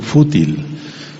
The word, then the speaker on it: fútil: Y hay una palabra que se llama fútil, con acento en la U, fútil.